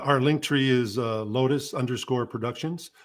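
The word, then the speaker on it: Lotas: link tree is uh lotus underscore productions now lotus is spelled with an a it's l-o-t-a-s so it's lotus underscore productions but you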